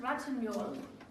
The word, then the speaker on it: Ratignolle: Adele, her last name is pronounced Ratignolle.